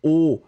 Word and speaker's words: os: On l'écrit de la même façon, mais on le prononce différemment. Et donc ici, les os, vous entendez os, et c'est vrai que c'est un petit peu bizarre.